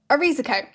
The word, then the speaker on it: Erizeco: This island is called Erizyco, or if we use the old spelling, it's spelled like this, but also pronounced Erizyco.